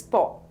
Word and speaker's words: প: the Bengali letter go the next letter is po the pronunciation is similar to the PO in the English word pot Bangla letter PA also